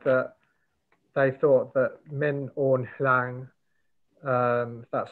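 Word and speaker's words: Min Aung: person and they said that they thought that min on that's how you say it that the reason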